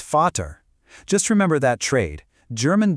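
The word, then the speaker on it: Vater: And to complete the switcheroo, the German V is usually pronounced like an English F. So the German word for father, vat, isn't v, it's fatter.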